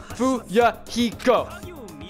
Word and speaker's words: Fuyuhiko: My last name is Kuzuhiro, and my first name is pronounced Fuyuhiko.